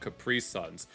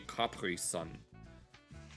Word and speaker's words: Capri Sun: We always bought Capri Suns. Although uh allegedly the real pronunciation is Capri Sun since it's a German company. So it would be Capri Sun.